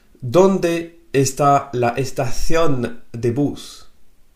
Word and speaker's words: estación: « Donde está la estación de bus ?» Troisième fois, ¿Dónde está la estación de bus? Alors, si tu n'arrives pas à bien prononcer le th à estación, ce n'est pas grave.